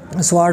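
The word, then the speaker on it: sword: है और इसके बाद स्वर्ड में क्या आर जो है ये साइलेंट है इसके बाद हमसे पूछा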